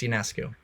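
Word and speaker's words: Ionescu: versus Sabrina aesu yonescu however you pronounce it I think it's yonescu but that was an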